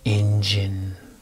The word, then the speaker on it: engine: Engine. engine. Let's do that. Let's go ready. Basin, raisin, slim, engine. And the EN has the same as IN, engine.